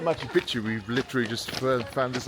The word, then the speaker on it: Machu Picchu: So they left us yesterday and they went to Aguas Calientes, but they could unfortunately not get any tickets for Machu Picchu.